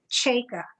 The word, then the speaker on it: Cajka: interesting because i have i have always said my name chaka and yet my husband